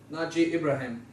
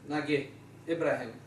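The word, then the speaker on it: Nageh Ibrahim: violence and the co-founder Naji Ibrahim as they pronounced in Egypt nag Ibrahim is now a prolific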